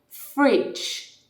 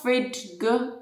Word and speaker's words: fridge: to pronounce ready french the d and the g fridge fridge fridge okay it's not fred of freddy french french and please